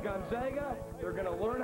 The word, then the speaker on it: Gonzaga: It's pronounced Gonzaga.